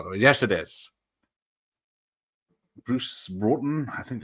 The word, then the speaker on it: Bruce Broughton: Bruce Broughton, I think it's pronounced.